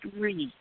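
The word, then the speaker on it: Rhi: sure I can it's RH I and it's pronounced re yes pretty oh thank you re a pretty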